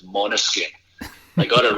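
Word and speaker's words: Måneskin: Everyone says Mainskin, but I believe it's Monoskin.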